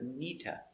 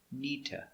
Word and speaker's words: need to: need to go remember link the words together not need to but together nita i need to go pronunciation me sounds together like it's one word neeta i need to go